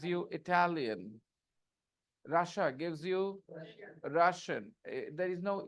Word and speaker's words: Russia: There is no E sound. I is silent.